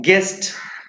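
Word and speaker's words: guest: Next देखेंगे आप point को कि जनरली यू इज साइलेंट, सामान्यतः यू क्या होता है, साइलेंट होता है इफ इट कम्स आफ्टर जी, यदि यह जी के बाद आता है। एग्जाम्पल में देखेंगे आप लिखा हुआ है गेस्ट, ये यू यहाँ पर क्या है, साइलेंट है, यू यहाँ पर क्या है, साइलेंट है, इसे आप क्या बोलेंगे, गेस्ट।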